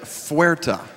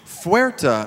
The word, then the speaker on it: fuerte: And they said fuerte.